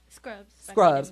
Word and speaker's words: SK Rubs: Scrubs. Yeah. Girl. Scrubs. It's spelled SK, it's spelled and then Rubs. So I was just pronouncing it the way it said.